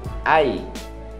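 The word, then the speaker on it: ail: Ai. Ai doeu. É isso mesmo. Alho é ai. A-I-L. Ai.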